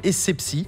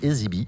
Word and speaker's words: Essebsi: Le président de la République de Tunisie s'appelle Béji Caïd Essebsi. Manuel Valls a écorché son nom et l'a prononcé Ezibi.